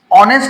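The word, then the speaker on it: honest: ওয়ার্ডের প্রথম প্রথমে থাকে এইচ এর উচ্চারণ হ এর মত না হয়ে যদি অ এর মত হয় তখন এন বসে অর্থাৎ সহজ কথা হচ্ছে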